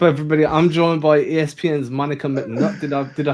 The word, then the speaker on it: Monica McNutt: I'm joined by ESPN's Monica McNutt. Did I pronounce that correctly?